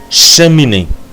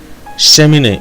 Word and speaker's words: cheminée: Like in this example, cheminée. Cheminée means in English, cheminée. We can hear in the first part, first syllable, we got the sound E. Sh, because there is no accent aigu. And the second one here, there is the accent. So the sound is A.